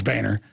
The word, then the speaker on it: Boehner: I know he says his name's Boehner.